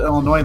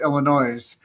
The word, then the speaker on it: Illinois: Shah McCaffrey coming in from Springfield Illinois Land of Lincoln and if you guys didn't know that is the capital city of Illinois and if you say it wrong it's Illinois's that's right but you but you're just north of st.